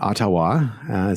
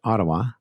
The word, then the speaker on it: Ottawa: and uh and not otawa some people like to pronounce it um but ottawa that's how the canadians pronounce it and what shopify has